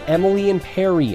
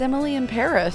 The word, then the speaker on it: Emily in Paris: It's Emily in Perry. I keep telling you. Just say it right. It's Emily in Paris.